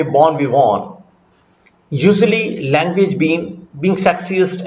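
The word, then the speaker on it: bon vivant: इसको पढ़ा के लिखा भी है, बॉर्न वी वॉन, बॉर्न वी वॉन, बॉर्न वी वॉन, pronounced something like बॉर्न वी वॉन, a muted nasal sound.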